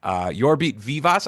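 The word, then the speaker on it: Jorbit Vivas: Yorbit Vivas. I think that's the correct way to say it. You're spot on.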